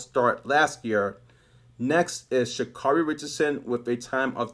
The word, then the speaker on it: Sha'Carri: which reminds me, Sha'Carri Richardson's name is actually pronounced Sha'Carri.